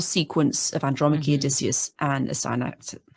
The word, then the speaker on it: Astyanax: of Andromache, Odysseus, and Astyanax. I can never say that name. Astyanax. Astyanax. Yeah, there we go. Astyanax. I add an extra syllable, which is not supposed to do that.